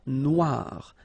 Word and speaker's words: Noire: Okay, then here, la mer Noire. Same thing here that we had previously. Final not pronounced, okay, and then OI, remember, wa, noir. Noir.